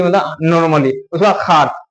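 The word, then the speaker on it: خوار: ये उसके बाद है खे वाव अलिफ रे खार, यहाँ पे वाव साइलेंट, ये खार मतलब क्या होता है, जलील होता है, जलील, बेइज्जत, दुश्वार, इसको कह सकते हैं।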